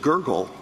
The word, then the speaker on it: Gergel: I mean, at trial, Judge Gergel, is that the correct pronunciation of his name? Gergel. It is Judge Gergel, yes.